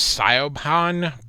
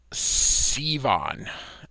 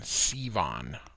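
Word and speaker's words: Siobhan: and uh I used to think this was saiopan but it is uh Sivan I believe is the correct pronunciation Sivan um so Superman comes carrying the book very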